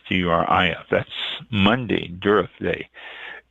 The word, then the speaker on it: Durif: That's Monday, Durif Day.